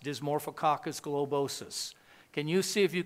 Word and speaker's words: Dysmorphococcus globosus: It's pronounced Dysmorphococcus globosus.